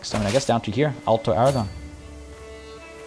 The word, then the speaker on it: Aragon: In Aragon, you should stress the last syllable.